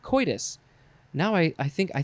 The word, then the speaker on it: coitus: go with coitus wow you can pronounce it a few ways you could say co coatus you could say koitus or just coitus i've only heard coitus now i i think